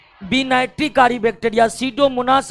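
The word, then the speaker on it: Pseudomonas: रखना पड़ेगा एक है सीडो मनास सीडो मनास सीडो मनास का पी साइलेंट रहता है दूसरा है थायो बेसिलस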